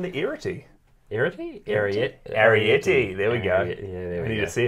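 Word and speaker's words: Arrietty: Arietti, there we go.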